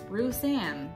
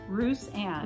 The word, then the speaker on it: Roussanne: So we are drinking this Wilson Creek Roussanne. Roussanne? Roussanne. How do you say it? Roussanne.